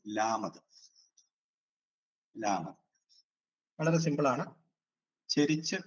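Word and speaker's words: ܠܡܕ: അടുത്തത് ല എന്ന് പറയുന്ന ഉച്ചാരണം വരുന്നതാണ്. ഇംഗ്ലീഷിലെ എല്ല് ആണ്. ലാമത് എന്ന് പറയും. ലാമത്, ലാമത്.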